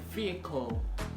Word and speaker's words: vehicle: So the other one is vehicle. Vehicle, not vehicle. Vehicle. No. You see some people, they pronounce it as vehicle. That's not the correct pronunciation of this word. It's vehicle. Vehicle.